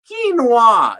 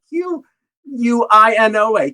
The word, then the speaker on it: quinoa: what we wanted to know was how to pronounce the q1 quinoa is how you call it q u i n o a quinoa save the Google quinoa that's how you say it right there it's